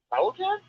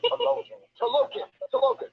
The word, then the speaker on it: Talokan: Halocan? And what's that? I just said Talokan. Or Jersey. Yeah, we pronounce it Jersey.